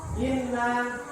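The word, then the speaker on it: إنا: Terus kalau ada nun tasdid, ya, nun tasdid itu harus bacanya diapakan? Ditahan. Gak boleh inna a'tayna, gak boleh. Harus ditahan 2 ketukan. Inna harus ditahan.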